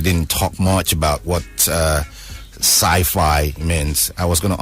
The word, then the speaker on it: CYFI: And sci-fi is spelled CYFI.